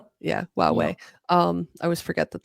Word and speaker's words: Huawei: about, how do you say it was the Hawaii phones u Huawei? I'm sorry. Yeah, Huawei.